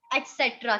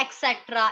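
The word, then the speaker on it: et cetera: बहुत से लोग इसको बोलते हैं एक्सेट्रा, एक्सेट्रा, एसेट्रा, you know this is wrong.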